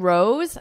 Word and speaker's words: rose: So here, dose and rose have the exact same vowel sound. It's that O, but the S-E is pronounced differently. Dose, s, with an S, rose, z, z. So you hear a buzzing because it's a voiced sound.